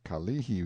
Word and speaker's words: Kalihi: a picture as the Kalihi Valley pronounced stress on the second syllable all citizens talk about